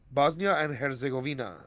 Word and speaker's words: Bosnia and Herzegovina: Bosnia and Herzegovina, I believe is how Mm. you pronounce it. Yep, you got it.